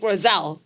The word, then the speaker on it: Rossell: Rose, I'm going to say his last name wrong. Rossell.